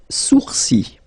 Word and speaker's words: sourcils: Les sourcils. Les sourcils. Okay, so it's quite strange because you get this LS at the end, but then, well, you don't pronounce them.